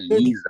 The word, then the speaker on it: Lisa: Makanya nama kalau misalkan ada nama orang Lisa gitu kan biasanya di Jerman bacanya Lisa.